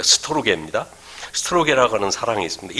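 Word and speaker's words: στοργή: 영어로 스톨게라고 발음을 써보니까 스톨지라고 자꾸 나와가지고 좀 혹시 오해가 있지 않을까 싶은데 스토르게입니다.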